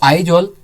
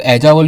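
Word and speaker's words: Aizawl: अगर मैं मिजोरम की बात करूं तो आइजॉल यहाँ की कैपिटल है, ठीक है, जिसको कुछ लोग ऐजावल भी बोलते हैं और मैं भी बोलता था, बट हिंदी प्रोनाउंसिएशन इसका है आइजॉल, ठीक है।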